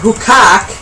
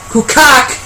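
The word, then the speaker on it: Küçük: Which sits on the Hukak. That's what he didn't call it. What? I wonder about that one now. Well, it's literally spelled K-U-C-U-K. Kukak. Kukak is what he said.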